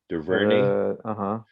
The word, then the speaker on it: DuVernay: I've always said that girl or that lady, not girl, Ava, I can't pronounce DuVernay. How do you say her last name? DuVernay.